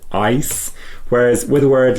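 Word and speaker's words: Eis: it because in German, when you have a word like ice, e i s, you pronounce it as an i sound because in that e and i defong, the i comes second. So you pronounce it ice.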